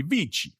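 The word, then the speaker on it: VICI: is is the newcomer this is American it' be VC if it's Italian it' be vich vichi properties VI ticker symbol vich VI C I'm going to pronounce it the Italian way because why not vich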